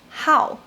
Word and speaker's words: 好: of like, love, or be interested in, it's pronounced as 好.